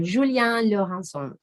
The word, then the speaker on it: Julien Laurençon: So let's meet our speaker, Julien Laurençon. Julien is French, so that's how we should pronounce his name.